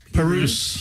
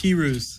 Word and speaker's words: Pirooz: Well, the way I always remember it is it's just the letter P and then the end of kangaroos. Kangaroos. Pirooz. Pirooz.